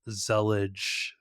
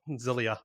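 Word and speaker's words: Zellij: using a multiplexer called Zellige. I'm not sure how the J is pronounced at the end of that. I think it's a Y. Zelia.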